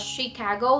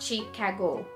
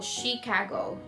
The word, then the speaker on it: Chicago: So that's actually pronounced as Chicago, not Chicago. So Chicago.